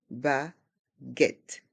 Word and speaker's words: baguette: boulanger une baguette une baguette on entend bien le T à la fin une baguette une baguette